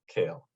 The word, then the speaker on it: Kahl: the and and the spelling is call but pronounced kale yes it is okay it confuses me sometimes